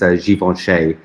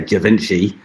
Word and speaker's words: Givenchy: Yeah, and it's I think the correct way to pronounce it is Givenchy, which of course in the West we just say Givenchy, and the animals we are.